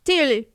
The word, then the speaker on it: Tivoli: And apparently Tivoli Gardens is pronounced Tivoli. Right. You just mumble and you sound like a local.